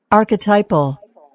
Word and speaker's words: archetypal: 발음 한번 들어볼까요? Archetypal, 아키타이퍼. archetypal, 오, 발음이 아키타이펄이군요. 자, 이거.